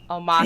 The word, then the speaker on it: Omashu: Omashu.